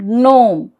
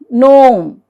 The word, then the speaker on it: gnome: So, the rule 1 says G is silent if the word begins with GN. So, there are only a few words, gna, G-N-A-W, gna, and gnome, gnome, na and gnome.